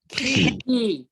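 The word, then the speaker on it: כי: So it makes, this is pronounced ki, right? Ki. Good. Like a like a key.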